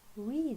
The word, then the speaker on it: read: list and then read it's written the same way you write it with the same letters but when you want to read it when you want to pronounce it you read it like the color red she read the newspaper